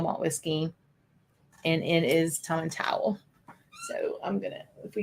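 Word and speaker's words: Tomatin: pH Sherry but and I was mispronouncing it everybody mispronounces this one I didn't learn it was Tom and towel until I got there towel towel to towel give it a Scottish accent um so Andrew is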